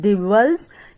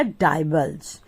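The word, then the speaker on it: divulge: Next word बहुत अच्छा word है, इसको प्रोनाउंसिएशन में दो तरीके से करते हैं, डिवल्ज या डाइवल्ज।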